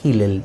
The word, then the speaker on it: Hillel: Una, la escuela tradicional y conservadora de Shammai, y la otra era la escuela liberal de Hillel, o Hillel se escribe, pero Hillel debe pronunciarse, ¿ya?